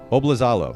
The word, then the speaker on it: Oblizalo: me make sure i get this right too bob lazalo am i pronouncing that correctly dude you nailed it i